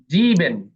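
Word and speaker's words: sieben: তারপর জেক্স জেক্স জেক্স জিবেন জিবেন জিবেন হ্যাঁ এস এর পরে ভাওয়েল আছে জিবেন জিবেন অর্থাৎ ব্রুগজ্জা উচ্চারণ হবে জিবেন জিবেন আক্ট আক্ট সেহার আগে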